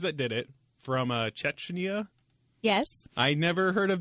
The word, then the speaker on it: Chechnya: did it from uh Chetchna. Yes. I never heard of this country before to be honest. I am not surprised. I didn't know what it's Cheschna, right? Yes. You're saying it correctly now.